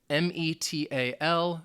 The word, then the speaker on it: metal: definitely in American English, when the T sound is in the middle of a two-syllable word, they would call it the flap T. And that flap T sound is more like a D sound.